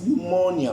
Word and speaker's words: pneumonia: I mean, if you're gonna say it's pneumonia, why do you put a P?